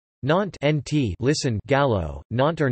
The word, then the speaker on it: Nantes: Nantes, N-T, listen, Gallo, Nantes or Nantes, pronounced N-T or N-T, Breton, Nouent, pronounced N-Went,